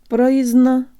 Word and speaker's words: произно: Произно. Произно. The schwa is pronounced with the tip of the tongue curved upward, but with most of the tongue low.